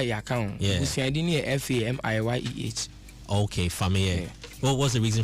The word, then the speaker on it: Fameye: But the spellings of the family name is different from the stage name, even though the pronunciation is the same.